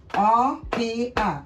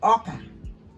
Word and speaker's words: oka: o o o f e ofe o f e ofe that's soup o o o k a oka o k a oka that means corn Say it after me.